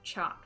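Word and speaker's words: Çat: man in my court named chopped it's see with a cedilla underneath CA T I'm gonna pronounce that chop for now he is one of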